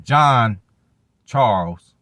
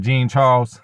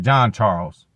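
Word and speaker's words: Jean-Charles: So Keyshawn Nixon, John Charles. Not Gene, y'all. Get his motherfucking name right. I hate when motherfuckers say my name wrong and shit. So, Gene Charles. My bad. John Charles.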